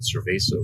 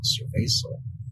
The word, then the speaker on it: cerveza: I was just like, cerveza. Because I think I remember seeing the word, on certain Mexican beers back in the U.S. But honestly, I thought it was like a hard C.